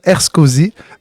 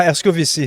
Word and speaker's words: Herscovici: J'ai avec moi en ce moment Jessie Vincent Erskozy. J'ai-tu bien prononcé? Quasiment, Erskovici.